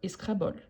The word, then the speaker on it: Scrabble: Scrabble c'est un jour ici c'est la prononciation française donc si vous connaissez avec la prononciation anglaise c'est pas différent bon si la prononciation c'est différente c'est comme gogo et Google donc escrabol voilà donc la mère d'Isabelle